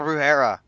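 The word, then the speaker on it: brujería: Yeah, that's how you say it. La Brujeria.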